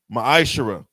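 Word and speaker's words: מעשר: tithe which is a commandment book of numbers 18 21 book of Malachi chapter 3 8-10 means 10th in the Hebrew is pronounced maishara 10% of every penny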